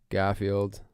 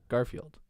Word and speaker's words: Garfield: day I realized the the name Garfield like how do you say Garfield Garfield three syllables or two Garfield Garfield right three but the second half or the second bit of Garfield is the word filled right so it should be Garfield so try to say Garfield and not have that third syllable come out so Garfield I'm still